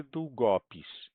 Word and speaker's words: długopis: Então, o go é que é a sílaba tônica. Nesta daqui, ó. Tá certo? É o go. Só que aqui, ó, como foi acrescentada uma letra, já mudou. A sílaba tônica agora é o pi.